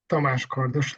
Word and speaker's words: Tamás Kardos: My name is Tamás Kardos. This is how it's pronounced in Hungarian.